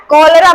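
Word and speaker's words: cholera: इसमें भी देखिए सी के बाद एच है, सी के बाद क्या है, एच है। यहाँ सी के बाद एच था तो इसका उच्चारण च हुआ, लेकिन यहाँ पे सी के बाद एच है तो यहाँ इसका उच्चारण क्या हो गया, क हो गया।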